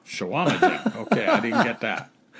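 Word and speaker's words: Chequamegon: Where I'm from, we pronounce it Shawama Jen. Shawama Jen.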